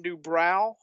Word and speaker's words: DuBrow: Two videos made to support the record, and this was the final album with Kevin Dubrow, or Dubro, I've heard it pronounced both ways, until 1993.